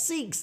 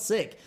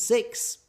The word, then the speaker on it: Sikhs: The US North Americans pronounce Sikhs as six.